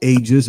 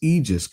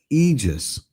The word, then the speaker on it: Aegis: It is not Aegis. It's not Agus. It's Egis. Correct? Eegis.